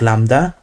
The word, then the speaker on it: lambda: So lambda is pronounced lambda, like this. It's written like this, and mu is mu.